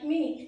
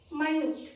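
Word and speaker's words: minute: আর একটা মাইনুট মানে খুবই ছোট, মাইনুট। দুটো স্পেলিং কিন্তু দেখো সেম, কিন্তু দুটোর মিনিংও ডিফারেন্ট, আবার কি দুটোর উচ্চারণও ডিফারেন্ট।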